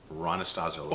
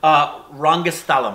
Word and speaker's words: Rangasthalam: Ranastazal. Say the actual name of it. Rangasthalam, I believe, is the right and pronunciation.